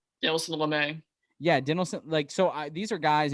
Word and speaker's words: Lamet: You still got Fernando Tatis, Manny Machado, Will Myers, Jake Cronenworth, Lamat. How do you pronounce his name? Dinelson Lamet.